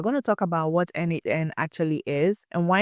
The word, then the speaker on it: n8n: By the end of this video, you'd have a clear understanding of where n8n fits in the automation landscape and when to choose it for your own projects or your own business workflows.